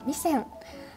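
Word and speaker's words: 味仙: お店は名古屋の名店、これは味仙って読むのかな、味仙、あ、味仙、味仙さん。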